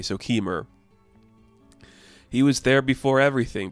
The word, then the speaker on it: Kemur: I'm going to say it like lemur but with a K. So Keemmer, he was there before everything.